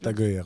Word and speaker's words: Tag Heuer: à une boîte qui fait des montres, donc Tag Heuer, c'est ça, je le prononce? C'est Tag Heuer, oui.